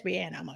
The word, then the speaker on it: Rihanna: husband keep on saying her name is not Rihanna it's Rihanna okay Rihanna oh yeah that's how you say it that's how you really say it's Rihanna Rihanna gave us a